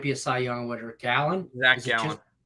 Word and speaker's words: Gallen: Gallen? Gallen.